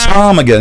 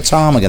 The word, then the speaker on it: ptarmigan: Oh my good lord, it's like ptarmigan, isn't it? It's like a ptarmigan. That's spelled with a silent P.